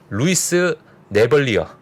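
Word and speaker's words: Louis Navellier: 자, 이렇게 얘기하신 루이스 네벌리어. 네, 영어 본토 발음입니다.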